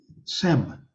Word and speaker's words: sems: The first one he really goes into is SEM, S-E-M-S. That's a transliteration. It's pronounced without the final S.